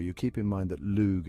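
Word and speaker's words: Lugh: keep in mind that lug is sometimes pronounced Luke as in the Luck of the Irish I told you these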